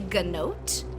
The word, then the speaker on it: gnote: Mount type is called a gnote it is spelled like goat but with an N after the G uh and there are